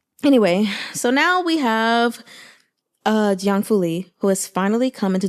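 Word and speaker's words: 姜拂黎: So I'll just tell you how to pronounce it in general. Jiang, Jiang Fuli. Jiang Fuli. Very simple.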